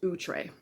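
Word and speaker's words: Outré: many years I said outre like everybody else does it's actually a French word and it's pronounced utre um I'm just not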